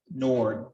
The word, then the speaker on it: Nord: it all day long pronounce your last name correctly nord like door wicking okay maybe i heard